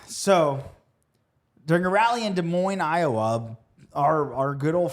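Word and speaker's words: Des Moines: De Mo. Don't. This is like the baloney of cities. It's De Moine. Why are there S's? It's It's French.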